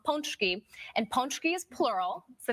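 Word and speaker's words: pączki: We say punchki here. You say punchki here. Wrong. That is absolutely wrong. So- Listen carefully. Watch my lips. Looking in. This one. Ponchki. Ponchki.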